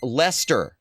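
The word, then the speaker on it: Leicester: Uh, pronounced Lester. Okay, Lester. That's a wacky British spelling for you.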